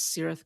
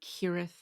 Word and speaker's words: Cirith: I know Cirith is Elvish, which suggests to me a soft C rather than the hard Kirith, like it would be in Latin.